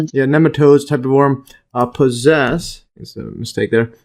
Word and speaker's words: nematodes: And neatodes. Uh see the pronunciation. Here's a type of worm. Nematodes. Yeah. Nematodes.